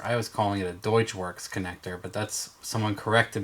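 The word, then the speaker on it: Deutschwerks: it's a deutsche connector deutsch works or deetch works is how they pronounce it is the fuel system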